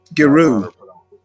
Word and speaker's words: Giroux: Giroux. Well, I pronounce a hard G.